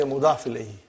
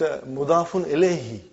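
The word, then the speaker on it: مضاف إليه: But we say mudafun ilayhi. In short, you will always say mudaf ilayhi. No, it's mudafun ilayhi.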